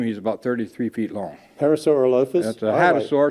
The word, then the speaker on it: Parasaurolophus: Parasaurolophus. If I had the body on him, he's about 33 feet long. Parasaurolophus.